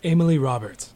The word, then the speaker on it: Amalie Robert: okay so it's not a lot of people assume that it's a French pronunciation but they're both as American as apple pie and I have to